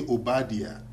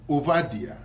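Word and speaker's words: Obadiah: name that we say obadia in or whatever in U in uh in English but when I'm speaking uh my ever language I'm saying um ovadia which is the proper pronunciation in Hebrew another name is um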